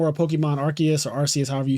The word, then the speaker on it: Arceus: I say Arceus. I think technically it is pronounced Arceus, but I've always said Arceus.